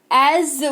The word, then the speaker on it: as: ऑफ अ book जैसा एज word का यूज़ करते हैं ए एस है लेकिन ज इसका उच्चारण होता है तो इसको एज पढ़ते हैं जैसा मैंने कहा एज आई सेड एक और एक हिंदी में